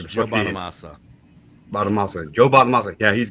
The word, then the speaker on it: Bonamassa: John Bonamusa or whatever his fucking name is, or Joe, whatever his fucking name is.